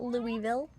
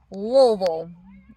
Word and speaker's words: Louisville: sorry Kentucky uh Louisville I've been told that you have to say it like there's something in your mouth and you're trying to talk around it so it's not Louisville as I would want to call it it's Louisville Kentucky so that's where we